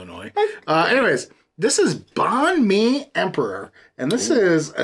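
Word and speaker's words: Bánh mì: they're probably Chicago illo uh anyways this is Bon Me Emperor and this is a Simco and nectar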